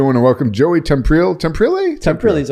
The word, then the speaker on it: Temprile: Temprile's okay, yeah, you're close. Temprile. My Nona would say it like that, Temprile, exactly.